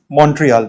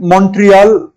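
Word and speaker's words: Montreal: लेकिन एक्चुअली जो है मॉन्ट्रियल इसको प्रोनाउंस करते हैं। तो अगर आप कर सके तो इसको ऐसे ही प्रोनाउंस कीजिएगा। मॉन्ट्रियल कहिएगा। मॉन्ट्रियल नहीं कहा। ठीक है? और इसका स्थानीय लोग और भी जटिल उच्चारण करते हैं। जिसमें टी को आधा साइलेंट कर देते हैं।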